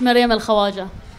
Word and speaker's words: Maryam al-Khawaja: can you say her name for us it's maryam al-khawaja thank you Miriam is a human rights defender